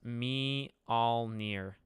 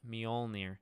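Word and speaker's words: Mjölnir: he will in general it's like pronounced me all near no is it how do you say it me you have to have like an O me mjolnir I did it again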